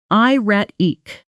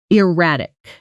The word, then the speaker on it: erratic: Pronunciation: i-ret-ik, erratic.